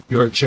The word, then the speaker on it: Yorkshire: Yorkshire. Yeah, Yorkshire. So we would say Yorkshire. Yeah. It's a sort of standard British. You share. Particularly in the southwest, it's shire.